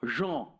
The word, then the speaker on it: Jean: This is a great quote from John Baudrillard, or Jean, to say it properly.